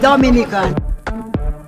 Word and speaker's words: Dominica: oh we call it dominican it is spelled d-o-m-i-n-i-c-e it is not dominican republic it is pronounced dominica and is situated between